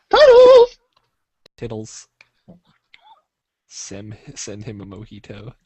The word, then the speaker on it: mojito: I know, but it's like it's Spanish. So Mojito. It's like Vegeta, but Mojito.